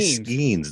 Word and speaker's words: Skenes: you pronounce his name it's actually schemes it's very easy but that's a hard